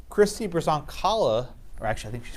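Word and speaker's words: Brzonkala: Christy Brazoncala, or actually I think she's pronounced it Broncala, I think the Z is silent.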